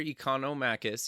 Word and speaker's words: Economakis: back to the show today we have nectar economakis he's a partner at the pnr nectar welcome